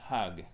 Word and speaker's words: hug: Et c'est pas hug, c'est hug. Hug. There's a H, ok.